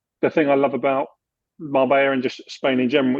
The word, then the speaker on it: Marbella: So people planning to move to what they're thinking is Marbella is Marbella if you pronounce it in Spanish, right?